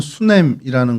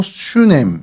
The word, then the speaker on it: 수넴: 오늘 저희가 살펴볼 성경 속의 장소는 수냄이라는 곳입니다. 어, 수이 히브리어로 슈냄 그니까 뭐 발음이 거의 같다라고 보시면 되고요.